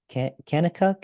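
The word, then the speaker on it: Kanakuk: pronounce this Camp incorrectly but I believe it's K kakuk is that how you pronounce camps That's Right Branson Missouri okay in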